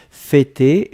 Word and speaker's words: fêter: F-E, accent circonflexe, T-E-R. D'accord? Fêter, et on prononce bien le pour l'accent circonflexe.